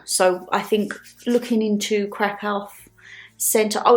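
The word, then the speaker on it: Kraków: So, I'm like, "Is it crack or crack off?" But it's crack off.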